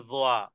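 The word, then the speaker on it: ظ: আল মু তি এরপরে জো জয় জয় জিহ্বার আগা সামনের উপরে দুই দাঁতের আগার সাথে লাগিয়ে দাল ফা তিনটি হরফে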